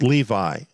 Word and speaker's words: Levi: Dan is removed and Levi is the one that's taking its place or levie if you prefer that pronunciation but it's interesting here